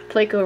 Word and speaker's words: Placo: But only named Placo Malfoy, because Placo rhymes with Draco.